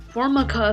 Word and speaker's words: Formica: regions by the way that's how you pronounce my name Formica fly around early August